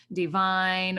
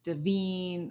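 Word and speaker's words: Devine: written by kyle and i'm going to butcher the last name because i don't understand english it's divine or davine or divine d-e-v-i-n-e anyway the book dismantles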